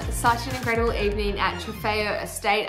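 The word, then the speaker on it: Trofeo Estate: an incredible evening at trifeo estate i finally learned how to say it i've been saying tropico estate um it was such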